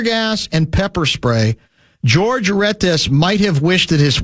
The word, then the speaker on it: Retes: Have you read about the ordeal of 26-year-old George, I believe it's pronounced Retes. It's R-E-T-E-S.